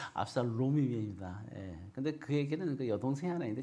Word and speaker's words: 압살롬: 놈이 아니라 롬입니다. 롬. 발음 잘해야 돼요. 압살롬입니다.